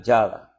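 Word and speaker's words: ידע: El desglose aquí de estas 3 letras que unidas se pronuncia Yada, ¿verdad?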